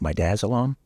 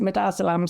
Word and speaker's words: midazolam: Midazolam? I always pronounce it midazolam. Some people say midazolam, but okay, midazolam.